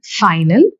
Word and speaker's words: final: In the word final, we have 2 syllables.